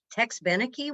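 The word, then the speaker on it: Tex Beneke: call my dad and go how do you pronounce his name it's tex benneke what is this so um i worked at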